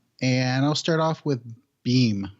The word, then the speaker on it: Bem: So the episodes I looked at were in season 2, and I'll start off with Beam, or Bem. Bem, I think, is how they pronounced it.